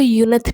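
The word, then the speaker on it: Yeontan: जैसे कि तयोंग हमारे जो है वो यंत इसको यंथ बोलते हैं। आप लोग अगर इसको गलत प्रोनाउंसिएशन इसका ना करें। इसको यंथ बोलते हैं। कुछ लोग इसको यूनथ भी बोलते हैं।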